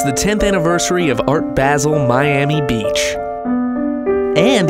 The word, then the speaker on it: Basel: at Art basil Miami it's actually pronounced basil art basil is it